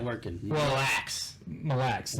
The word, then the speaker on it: Mille Lacs: Mille Lacs. All one word.